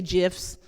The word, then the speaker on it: GIF: guess I should say GIFs, even though I don't know, if it's pronounced GIF, why didn't you just put a J in the front instead of a G? But the actual pronunciation is GIF.